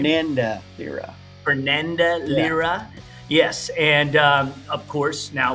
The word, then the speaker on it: Fernanda Lira: Fernanda Lira.